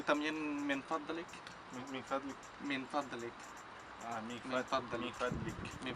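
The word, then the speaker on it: من فضلك: Y también min fadlik.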